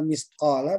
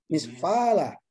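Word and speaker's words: مثقال: Saya bingung bacanya Pama Yamal Misqala. Biasanya ini Pama Yamal Misfala. Ya. Iya, Pak Haji. Nah, jadi huruf Qaf itu 1 titik di atas, huruf Fa 1 titik di bawah.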